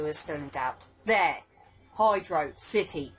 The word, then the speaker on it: Hydro City: still in doubt there Hydro City words separated it's pronounced Hydro City not hydrocity like velocity right let's do this